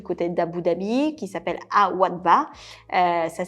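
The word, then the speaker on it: Al Wathba: Deuxième hôtel, alors là plutôt du côté d'Abu Dhabi, qui s'appelle Al-Wadba. Ça s'écrit A-L-W-A-T-H-B-A, qui est constitué de 103 chambres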